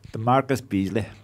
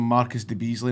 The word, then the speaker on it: DeMarcus Beasley: How did you pronounce DeMarcus Beasley? DeMarcus Beasley. Right, okay. Because there's this commentator out there that was calling him Marcus De Beasley, and that was never his name.